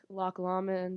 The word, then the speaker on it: Loch Lomond: the sites that we got to see like loch lomond is how you say um and just all